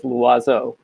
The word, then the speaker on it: Loizeaux: formal it's um my last name is lazzo don't worry about pronouncing it you can just call me